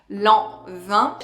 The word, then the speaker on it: Lanvin: Of course, Lanvin is such an iconic fragrance brand, so pronounce Lanvin.